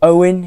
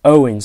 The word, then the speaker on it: Eoghan: name and you're thinking how on Earth do you pronounce that name I believe believe it's Owen he Owen I've again